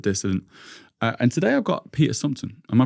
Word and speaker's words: Peter Sumpton: And today I've got Peter Sumpton. Am I pronouncing that right?